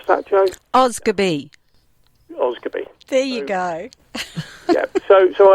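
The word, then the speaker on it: Osgodby: um i actually live in a village called oz goodbye it's actually spelled o s g o d b y but it's pronounced oscar b do you think you would be able to pronounce that joke oscar b there you go so so i started to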